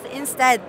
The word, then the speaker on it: enstead: Yes, enstead. Instead. Like, it pronounces the same as instead.